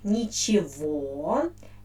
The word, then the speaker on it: ничего: in their pronunciation so the word which we write with letter e i pronounce like nichiwa and the accent falls on the ending or and uh the